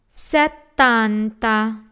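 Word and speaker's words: settanta: syllable son says Santa Setanta we have a double T in this word so that set Dan Setanta tanta another TT Noven chain toe when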